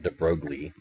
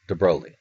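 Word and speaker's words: de Broglie: crazy Lou de broi and then it's how pronounced it's not de brogi de brog it's de broi de broi proposed that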